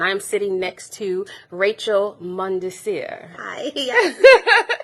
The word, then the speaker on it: Mondesir: Services Council, and I'm sitting next to Rachel Mondesir. Hi. Yes. It's Thank French, you for so having me. you have to pronounce it right, Mondesir, from the Early Learning Coalition.